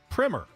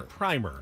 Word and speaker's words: primer: writing about the offseason it is pronounced primer if you have the first coat of paint on a house that's the primer all right but a a text like a text book or a writing on a subject that is pronounced primer and that's American English that's not even English English so never been said